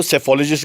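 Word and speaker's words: psephology: वो स्पेलिंग में गलती है शायद, PS से स्टार्ट हो जाता है, वी get confuse from there.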